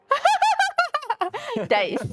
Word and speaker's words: Deist: And I learned how to pronounce Roger James Deist's last name. Go for it. I just did. Oh. Diced. Dice. Diced.